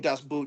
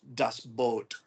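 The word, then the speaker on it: U-Boot: corrected me we we get used to saying D Boot and I just said it technically it's pronounced dust boat oh or the boat which is you know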